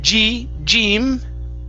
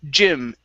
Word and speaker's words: gym: Yeah, so instead of gym, using a long E sound, it's gym shoes.